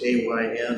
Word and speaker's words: Ayn: How many of you are familiar with Ayn Rand, which is A-Y-N? I'm not sure why she pronounces it Ayn, or did pronounce it.